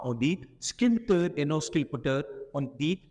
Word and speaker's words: sculpteur: pe il suffit pas on le prononce pas on voit pas dire SC non non on dit sculpteur on va pas dit